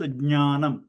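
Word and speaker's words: ज्ञानम्: So it has to be pronounced jnanam. Ja, nya together. Jnanam, one after the other.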